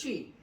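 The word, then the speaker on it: Twi: And now one question is, what you taught us, is it Twee or Akon? Is that how you say it? It's Twee. It's Twee.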